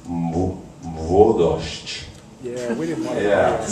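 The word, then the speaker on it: Młodość: and try to explain to me how to pronounce the title of the song and the refrain, which we were inaccurately singing as Mlodosz, but it's Mwodosz.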